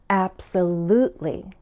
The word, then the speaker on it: absolutely: Americans usually say absolutely, with stress on the 3rd syllable, absolutely.